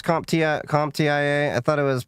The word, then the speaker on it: CompTIA: saying like CompTIA, you talking A+, Security+, you talking like their Security X or something like that?